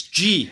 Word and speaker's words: Geey: to have Daniel Geey, even though it's spelled G-E-E-Y, it's G how you say his surname, and he'll explain why